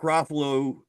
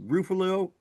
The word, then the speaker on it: Ruffalo: I also heard that Mark Ruffalo uh probably did I pronounce his name? Ruffalo. Ruffalo. Rufo.